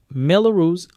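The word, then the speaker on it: Mello-Roos: Melus rhymes with yellow juice.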